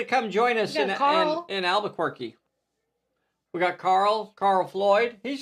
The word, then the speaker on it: Albuquerque: what to bring to the I believe it's pronounced Albuquerque.